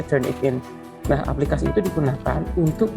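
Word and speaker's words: Turnitin: Eh dibacanya sih turnipin ya, tapi kita baca turn it in.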